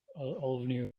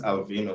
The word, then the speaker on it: Alvino: But the name is Alvino, so the I come before the N.